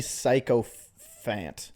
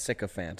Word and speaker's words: sycophant: This guy comments, Disney psychophant. I don't know what that means. And he said loser. It's pronounced sycophant, I believe.